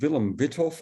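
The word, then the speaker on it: Willem Wythoff: I say Withoff and not Weithoff, which would be the Dutch way to pronounce it. But the Y in Withoff is actually from a German last name. So I don't think you should pronounce this the Dutch way. You should pronounce it the German way or the American way.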